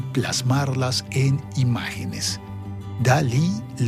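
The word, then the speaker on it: DALL-E: En el año 2020 sorprendieron al mundo con DAL I. D A L L E que se lee dali. Se escribe diferente, pero se lee igual que el nombre del pintor famoso.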